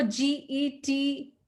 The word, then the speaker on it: get: but there are exceptions even though g e t there is e after g how do we pronounce that word g e t anyone how do we pronounce det is it going to be get is it going to be yes yeah yes get get me a phone g-i-v-e